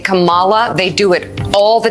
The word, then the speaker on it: Kamala: an organized hate campaign to say Camala like like the 9s pro wrestler God Rest his soul if you say Cala you're a racist if you say Kamala you're cool I don't